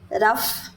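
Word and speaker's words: rough: है ऐसे जैसे जैसे रफ क्या है ये र फ रफ रफ कॉपी [नाक से की जाने वाली आवाज़] हम बोलते हैं ना उसकी स्पेलिंग ये है आर ओ यू जी एच फिर टी ओ यू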